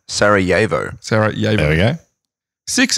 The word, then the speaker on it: Sarajevo: Pronunciation, Sarajevo.